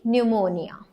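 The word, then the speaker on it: pneumonia: so let's see इन द पी N again an will going to make a sound लेकिन न्यूमोनिया okay न्यूमोनिया तो अभी हम न्यू की spelling करवा सकते हैं पी एन ई यू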